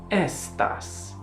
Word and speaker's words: aestas: Aestas, summer. Or as you'll commonly hear in the Italian pronunciation, estas, estas.